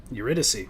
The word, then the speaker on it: Eurydice: I'm gonna pronounce it wrong. Must be Eurydice. Eurydice.